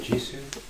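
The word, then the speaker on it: Jisoo: But if I had to choose, I really like Ji-soo. Ji-soo, that's how you pronounce it, Ji-soo, yeah, she won Miss Korea, right?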